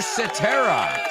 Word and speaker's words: Cetera: Number 1 is Peter Cetera. You've heard of etc.? Well, this is Peter Cetera.